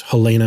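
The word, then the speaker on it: Halyna: for as a Helena I think it's Helena Hutchins that's how you pronounce her name she was a cinematographer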